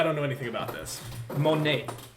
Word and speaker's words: Monat: know anything about this monet monet spell it uh i think i'm saying right m-o-n-a-t monat i think that's it uh they without